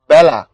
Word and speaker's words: বেলা: উচ্চারণ হয় হচ্ছে এরকম আবার ধরো এই যে লেখার সময় লিখি হচ্ছে বেলা কিন্তু পড়ার সময় পড়ি হচ্ছে বেলা এখানেও কি হইছে বলতো এখানে এটা এ এর মত করে উচ্চারণ হয়েছে অর্থাৎ এইযে এ